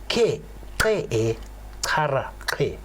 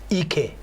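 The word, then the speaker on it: !ke e: ǀxarra ǁke: So the diversity that one talk about when we say ke e kara ke, which is on the coat of arms. Diverse people unite. Ke e kara ke. Ke e kara ke. Yes. And that's on the South African coat of arms. Yes. And I've been fighting with a lot of teachers, because most of the time when somebody talks about the coat of arms, somebody says Ike.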